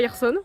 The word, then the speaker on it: Hirson: C'est pas comme à la forêt d'Hirson et non pas Hirson parce que je l'ai très mal prononcé pendant toute la vidéo.